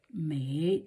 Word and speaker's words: 美: Da yang, it is beauty, mei, you pronounce it as mei, mei, the third tone, and in the Zhuyin way, mei, like this, mei, mei, third tone.